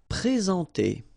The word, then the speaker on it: présenter: Présenter. Okay, remember when we've got this accent aigu like that on the top of e, of e, sorry, then you should pronounce it e, all right?